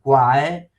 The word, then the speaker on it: qual: Quindi qua è scritto quale con l' barata qual si può leggere quae.